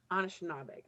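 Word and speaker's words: Anishinaabeg: in the title, how do you pronounce this Anishnaabeg? I'm not sure. Anishnaabeg, yeah. Anishnaabeg.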